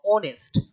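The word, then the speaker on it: honest: में यह क्या है आप बोलोगे सर यह तो टेक्निकली साइलेंट है यह टेक्निकली क्या है? साइलेंट है। अगर साइलेंट है तो फिर आपका जो प्रोनाउन्सिएशन स्टार्ट होगा वो क्या होगा? ऑनेस्ट। आर इट्स आर इट्स ऑनेस्ट। है ना?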